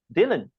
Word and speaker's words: Dhillon: is and how do you say your last name Dylan like Bob Dylan this is Dylan